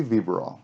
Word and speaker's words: Vybiral: how do you think vera bill close vibra roll vibrol okay so viverol yes hey so i sent you some questions